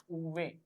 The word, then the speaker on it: uve: V is pronounced as uve.